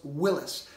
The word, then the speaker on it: Willys: eye for the Y sound so it was pronounced willis but it seems to have transmuted by some